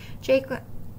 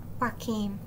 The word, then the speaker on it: Joaquin: Jaquin Phoenix. Joaquin.